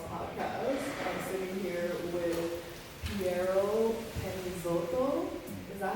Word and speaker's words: Piero Penizzotto: Yeah, I mean, there's like, I guess everyone has their own way of saying it, but my mom's like Piero Penizzotto.